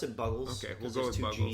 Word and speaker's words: Buggles: So that one was originally done by the Buggles, but or is it Bugles? Do you say Bugles? I pronounce it Buggles.